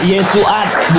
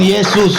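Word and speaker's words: ישועת: di sini bacanya Yesuat, bukan Yesus.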